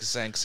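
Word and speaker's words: Xenk: Yep, Zenk, yeah.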